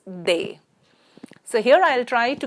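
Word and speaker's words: des: indefinite that is they the pronunciation is they so here I'll try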